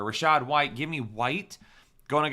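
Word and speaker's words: Rachaad: I don't love it Rashad white Rashid white I don't know why I said his name wrong out of nowhere Rashad white give me white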